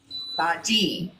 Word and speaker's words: bhaji: Bhaji, with a hard G.